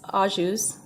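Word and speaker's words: au jus: tore the label off but it's Audis spelled au and then jus and basically you could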